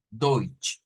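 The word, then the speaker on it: Deutsch: palabra Y es que e podríamos decir que es como que la t y la s desaparecieran y solo quedara la ch Eh entonces si transliter esta palabra para pronunciarla más fácil como escribiéndola en español pero pronunciándose de de deut eso sería entonces ahí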